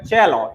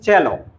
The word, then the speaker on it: cello: এটাকে কিন্তু cello পড়বে না, এটা হবে cello, its pronunciation is cello.